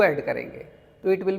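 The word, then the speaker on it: quarante: and then 40 will be different 40 कैसे pronounce करना है कागंत कारगोंंत कारगोंंत दिस इज़ 40 सो 40 हमने देखा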